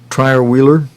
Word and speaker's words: Trierweiler: How do you pronounce her name? Trierweiler.